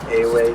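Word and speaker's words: Ewe: It's pronounced Away drumming.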